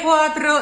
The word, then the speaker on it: quatro: De quatro. See that he writes quatro with one T. So it's really, it's in the Veneto area that they will not pronounce doubles.